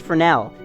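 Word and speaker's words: Fresnel: second Oro FR frel I know that that's pronounced Fel because uh I took a design class design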